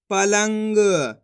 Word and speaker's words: पलंग: प लाम अनुस्वार की मात्रा लंग ग, तो मिलके बन जाएगा पलंग।